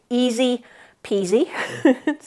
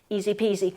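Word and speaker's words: IZIPIZI: better sleep so these ones the brand is easy peasy uh and it's spelled i z i p i zi easy peasy they do have a website but there's other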